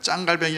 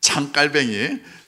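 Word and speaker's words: 장 칼뱅: 왜냐하면 짱갈뱅이 아니라 장깔뱅이, 물론 짱이었죠 진짜.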